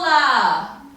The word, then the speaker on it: lah: You can say it to the crowd like, the crowd is so beautiful lah!